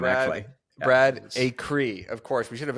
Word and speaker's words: Acree: says it wrong but it's just acre acre with another E on it like that's a great real estate name actually Brad a Cree of course we should